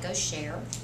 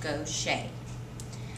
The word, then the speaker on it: Gaucher: today about gaucher's disease it looks like gosher but it is pronounced go shade hopefully by the end